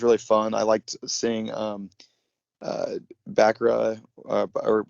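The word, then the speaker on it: Bracca: I liked seeing Bakra, or how do you pronounce that? Bakra? Braca. Braca.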